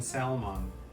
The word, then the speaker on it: salmon: Notice how there's an R in that word, but to be fair, there is an L in salmon, and we don't pronounce that.